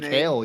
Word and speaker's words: McHale: A couple 2025 defensive guys, another linebacker, Noah McHale. Is that how you say his name? McHale, yep, you got it.